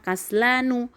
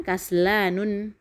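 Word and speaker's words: كسلان: Makanya kita di sini membacanya kaslanu, bukan kaslanun. Kemudian juga jau'anu, bukan jau'anun. Syaba'anu, bukan syaba'anun gitu.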